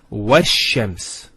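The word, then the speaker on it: والشمس: Similarly, this lam is not pronounced either, because as we said, this is from the sun letters, and there's a shadda there, so it's wash-shams.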